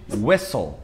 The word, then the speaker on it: whistle: Só que não só essas palavras, outras palavras com WH acabam pegando a mesma regra, que é o caso de whistle, tá?